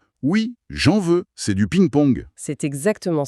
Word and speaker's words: j'en veux: Il y a une liaison, une fusion presque. J'en veux. Oui, c'est très lié. Ça donne un rythme bondissant à la phrase. Tu en veux ? Oui, j'en veux.